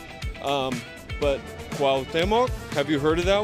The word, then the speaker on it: Cuauhtémoc: Cuauhtémoc.